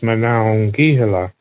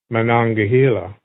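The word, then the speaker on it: Monongahela: The proper Lape pronunciation is Manhila. But before learning the Lape language, Jim pronounced it differently. I grew up in eastern Pennsylvania and I always heard and said uh manangahila and that's not that uncommon.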